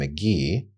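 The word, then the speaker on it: MK.gee: This artist that I found a few months ago named McGee, which is spelled MK.GE.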